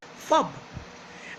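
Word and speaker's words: phub: So today's word of the day is not snub, it's fob, and it is spelled P-H-U-B, and it is gotten from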